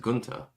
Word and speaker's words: junta: In Spanish, it's pronounced Gunta.